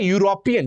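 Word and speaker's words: European: आप देखें यहां पर यूरोपियन। जब हम यूरोपियन बोलते हैं तो यहां पर भी जो पहली साउंड आ रही है वो क्या है? या साउंड है।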